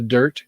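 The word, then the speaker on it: Dyrt: might want to stay there's one called the dirt and it's spelled d-y-r-t and so they did a survey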